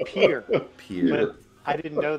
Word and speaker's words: Pierre: So in the outro, I'm screaming, Pierre, Pierre, we forgot Pierre. But it's pronounced Pierre.